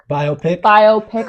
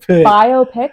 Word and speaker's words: biopic: Biopic. Oh fuck! I've been saying it wrong this whole time. Awkward. Biopic.